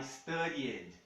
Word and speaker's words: studied: Mais um verbo que nós temos o E pronunciável aqui. Tá? Ele termina em Y, tem um D antes. I studied.